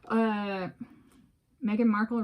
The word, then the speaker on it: Meghan Markle: And so, Meghan Markle rhymes with sparkle.